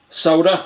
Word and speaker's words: solder: Makes it a bit easier to solder. You're going to want some solder or solder, as the Americans pronounce it.